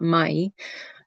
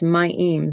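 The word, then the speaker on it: מים: It's not my, it's myim, the waters.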